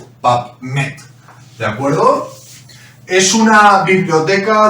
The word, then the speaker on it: PubMed: Y de hecho, en la bibliografía internacional, que podéis encontrar en páginas como PubMed, se escribe, por si alguien desconoce un poquito la pronunciación en inglés, PubMed, ¿de acuerdo?